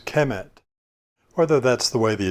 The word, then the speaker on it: Kemet: And so we can now pronounce this as Kemet.